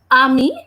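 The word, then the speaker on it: ami: that means friends and we are pronouncing this word as Amy because the sound of letter R is off letter is always okay now I have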